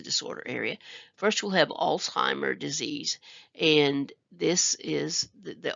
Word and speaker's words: Alzheimer: you the origin but please note it does not have a t in it so this is a